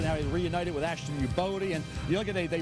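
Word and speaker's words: Youboty: And Buffalo likes picking these guys, but it's pronounced U-Bodie.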